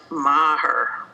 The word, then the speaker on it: Meagher: pronounce your last name my last name is pronounced maher thank you i feel vindicated we may now move on it is irish and the spelling does not really work with the english phonics that's why it confuses people we had our